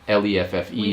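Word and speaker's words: Leffe: beer is lef um l-e-f-f-e yeah some people pronounce it leffy but it's actually lef and uh it's in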